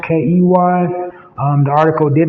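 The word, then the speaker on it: Kei: And the young chef in question, the young chef's name is Chef Key. It's spelled K-E-I, but pronounced K-E-Y.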